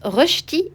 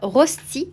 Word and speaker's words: rösti: Ça se prononce rösti et non pas rosti comme je peux l'entendre parfois.